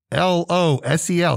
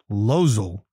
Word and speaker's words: losel: the day is lozal l-o-s-e-l it's only two syllables lozel also can be pronounced